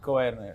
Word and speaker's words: Koerner: Ok, pero se pronuncia así tu apellido. Koerner Sí, Koerner.